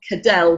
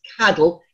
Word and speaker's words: Cadell: You pronounce it not Cadell, but Cadell in the Scottish.